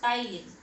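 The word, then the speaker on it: ptyalin: और the second name of salivary amylase इज टाइलिन। P silent रहता है इसमें, टाइलिन।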